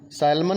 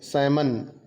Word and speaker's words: salmon: इसमें एल का उच्चारण नहीं किया जाता है, एल साइलेंट है, तो इसका हम उच्चारण करेंगे सैमन। सैल्मन नहीं बोलेंगे, इसको बोलेंगे सैमन।